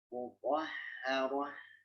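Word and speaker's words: مطهرة: Di situ dia tasydid ya. Jadi mesti ada tekanan ya. Ya, tekanannya standar ya. Mutahharah.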